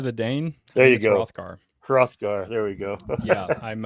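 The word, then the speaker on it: Hrothgar: Anthropologist how the do you pronounce that um put you to work rothgar the danne rothgar rothgar there we go yeah I'm uh I Fred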